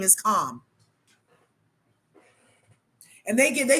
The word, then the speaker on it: Kamala: and they get they should have let people keep calling her camela because that sounds less like a communist than comma but you guys are all the ones that are on the you better pronounce her name right comma communist parents communist